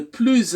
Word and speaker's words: plus: les droits de l'homme la troisième prononciation de plus c'est lorsqu'on fait la liaison on fait une liaison dans la phrase contenant le mot plus et donc on dira le plus âgé des victimes de la répression